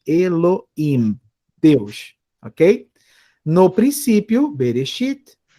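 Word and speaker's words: אֱלֹהִים: Mas se por acaso vocês ouvirem Elohim, como se fosse um rzinho bem fraquinho, né, saibam que é o o leitor tá aspirando, né, o som do rei. Eu prefiro sempre não aspirar para evitar confusão com outra consoante.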